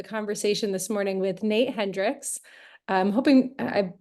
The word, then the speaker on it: Hendrikse: Um but thank you for joining us and we are really excited for the conversation this morning with Nate Hendrickx. I'm hoping I pronounced your last name correctly.